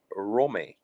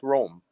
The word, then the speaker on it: Rome: who, by the way, his first name is pronounced Rome. Did you know that? Rome, not Rome.